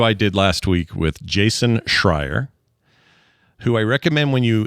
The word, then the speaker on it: Jason Schreier: Jason Schreier.